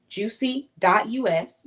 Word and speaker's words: Jusy: This is Jus Yus. Juicy us, but it's spelled Jusy.